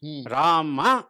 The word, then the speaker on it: ರಾಮ: ಅವರಲ್ಲಿ ಅರ್ಧಾಕ್ಷರ ಪ್ರಯೋಗ ಹೆಚ್ಚು ನಮ್ಮಲ್ಲಿ ಅರ್ಧಾಕ್ಷರ ಅಪರೂಪ ನಮ್ಮಲ್ಲಿ ಈ ಆ ಅಕ್ಷರವನ್ನು ಸಂಪೂರ್ಣವಾಗಿ ಉಚ್ಚಾರ ಮಾಡುತ್ತೇವೆ ರಾಮ ಹೇಳ್ತೇವೆ ನಾವು ರಾಮ್ ಹೇಳಲ್ಲ ನಾವು ಕರೆಕ್ಟ್ ನಮ್ಮಲ್ಲಿ ಇಲ್ಲವೇ ಇಲ್ಲ ರಾಮ ಅನ್ನೋ ಪ್ರಯೋಗ ರಾಮ ಅಂತಲೇ ಹೇಳೋದು ರಾಮಚಂದ್ರ ಅಂತ ಬಾಯಿ ಬಿಟ್ಟು ಪೂರ್ಣವಾಗಿ ನಾವು ಹೇಳುತ್ತೇವೆ ಬರುತ್ತೆ ಅವರು ರಾಮ್ ಹನುಮಾನ್